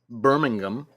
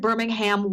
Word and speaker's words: Birmingham: somewhere on social media the last syllable is pronounced gum not ham that's how you know you're in England I said roommate I said Birmingham once by accident destroyed